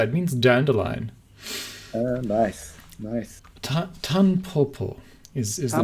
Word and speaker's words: Tanpopo: Today we're going to be talking about Ponpopo. Is that how you say it? Tanpopo. Tanpopo. Right, Tanpopo.